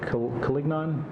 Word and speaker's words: Collignon: is it Collignon? Is that how you say it? Colligan.